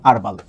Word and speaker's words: herbal: এই শব্দটার উচ্চারণ হারবাল। এটা আমরা জানি। তবে এই শব্দটার আরেকটা উচ্চারণ আছে। এই শব্দটার আরেকটা উচ্চারণ হলো হারবাল।